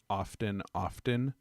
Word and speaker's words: often: Did you know that I had a 5th grade English teacher tell us that you never pronounce often. The T is silent. Often is how you should say it.